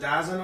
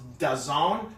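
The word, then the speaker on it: DAZN: you know why I didn't put the the dazzlin or whatever because I was just about to do it and then when it said when I looked it up it said that it's pronounced dezong and I went yeah I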